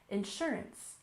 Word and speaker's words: insurance: this group we have insurance we stress the second syllable insurance insurance for example health insurance